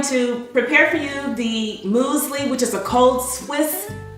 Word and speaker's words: muesli: well I'm going to prepare for you the moly which is a cold Swiss breakfast dish it's like a cold cereal well this musle and that's how it's pronounced it's a cold swish breakfast dish or